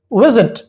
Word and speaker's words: visit: The stress is on the first syllable, visit.